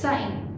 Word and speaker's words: sighing: Breathe करते हो right that is known as साइन SIGHING साइन okay O here she is silent it's not singing okay singing and everything it's साइन Then after come means breathing very deeply when sad or tired.